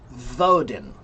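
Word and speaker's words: Woden: And they pronounced it voden.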